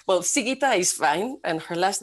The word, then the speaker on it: Sigita: She comes from Lithuania, and I have to look for my notes to pronounce her name right. Well, Sigita is fine, and her last name is Kriaučiūnienė.